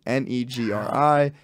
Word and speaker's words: Negri: up my last name negri n-e-g-r-i it's spelled a little scary I get it the joke I'll have is like I've had a couple hosts of comedy shows be like what's the name it's just negri don't overthink it that's